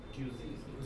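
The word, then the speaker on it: cuisine: next word is क्यूजन right how डू you pronounce it क्यूजन क्यूजन right क्यूजन refers to the food of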